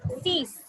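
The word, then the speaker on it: six: Okay, 6 is cease. Cease, set, cease, set. Cease, set, wheat. Cease, set, wheat. Cease, set, wheat. Nerve, these. These is like cease. These, cease. Cease, these. 6 and 10, they sound similar.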